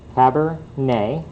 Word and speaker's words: Cabernet: if they're Cabernet wait Cabernet right I didn't pronounce the T but you all expect me to say the T and carrot so it's